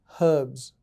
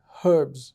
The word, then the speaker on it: herbs: it is spelt out herbs you don't have to worry about a thing just just spell it as you just just pronounce it as you spell it herbs yeah and it's that's